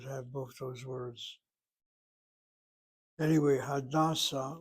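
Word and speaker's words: הדסה: Anyway, Hadassah, with the accent on the first syllable, is the name of a person, individual name, and Hadassah, the second syllable, is basically the hospital.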